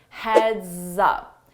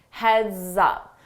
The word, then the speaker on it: heads up: Heads up, heads up. So notice that S on heads, when I combine it with my vowel sound in up, I use